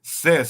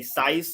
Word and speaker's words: cis: I was silent because CIS short for cisgender pronounce CIS see what I'm saying because some people will say size or they they don't know how to pronounce it so that's telling you